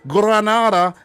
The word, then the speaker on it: Granada: check out the two spanish clubs granada and granada let me say it properly granada and vria real via viraria via vi biarrial